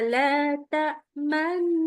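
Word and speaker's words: تأمنا: Qolu ya abana maaka laa yusufa wa inna lahu oke sebentar yang pertama tadi waktu baca la tamna usahakan monyong nya sampai mau tinggal baca na manna gitu.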